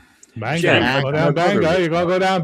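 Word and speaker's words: Bangor: Bangar. Bangar. Oh, okay. You actually say it like a like a normal American.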